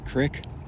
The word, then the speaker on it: creek: The Edgar Speer is pulling into the Conneaut Creek. If you're from around here, you pronounce it crick.